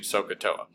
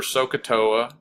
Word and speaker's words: SOHCAHTOA: let's go and remember sohcahtoa so again I'll spell it so s so with a solid H CUH CA with a solid H and then toe up Toa to give us the OO sound all right so remember